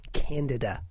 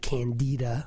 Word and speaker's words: Candida: It's Candida, by the way, not Candida, which is sort of a George Bernard Shaw play, nor is it pronounced Canada, which is the country up north.